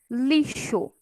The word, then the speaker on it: lixo: Lixo, lixo. De novo aqui a letra X com o som agora de CH, né?